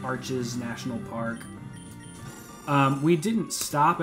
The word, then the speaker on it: Arches: of the cool rock formations are in, like, Arches National Park.